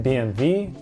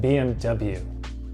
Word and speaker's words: BMW: a German car company technically this company is pronounced in German BMV but in the United States we pronounce it BMW BMW that's the English pronunciation another computer company starting